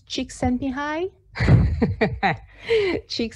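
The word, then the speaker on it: Csikszentmihalyi: is your friend let me see how you pronounce this chick sent me high cheek mihai is a hungarian psychologist and he is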